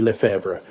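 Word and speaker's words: Lefebre: en la forma de un caballero llamado Anthony Le Fever. Y para el taquírafo judicial eso se escribe l E f e b r e.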